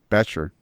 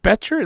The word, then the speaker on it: Becher: Becher. Is it Becher? Does it sound like a T? Yes.